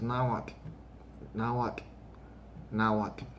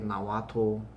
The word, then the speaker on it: Nahuatl: is now what um i hear people say nawato nawatel nawatu and they do that all the time even here in make when they do it all the time and then i tell them no now what now what and i'll say oh